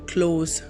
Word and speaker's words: close: The word close has two pronunciations, close and close. When the word close gives the sound of letter Z, it means it is a verb.